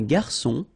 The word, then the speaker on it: garçon: Une cuillère à soupe, un garçon. Remember when we get this cédille beneath the C, it will give you the pronunciation S of C. So instead of K, as it should be with O.